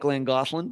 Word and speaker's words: Llangollen: Doesn't look like Llangollen, but that's how you pronounce it.